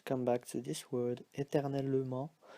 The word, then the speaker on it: éternellement: Here, to come back to this word, éternellement, so you see that here it's pronounced as a schwa, so E. It can also be left out. Sometimes when we speak fast, we say éternellement, so we don't hear this E, it becomes silent.